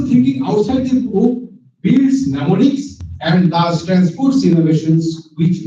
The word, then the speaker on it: mnemonics: In mnemonics, the first letter M is silent.